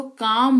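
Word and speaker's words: calm: एम की बात करें तो सी ए एल एम इसको लिखा जरूर जाता है पर इसका उच्चारण जो है वो काम होता है जिसका मतलब होता है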